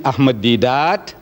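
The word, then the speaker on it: Ahmed Deedat: name so i tell her my name is ahmadi dat she says spell it so i started spelling it ahmed ahmad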